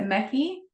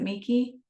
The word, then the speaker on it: Mecky: Is it Meki? That's a cool name. Am I pronouncing it right? Or is it Miki? Meki? You could peek in anytime. Hello, yes, it's Mecky, like Becky with an M.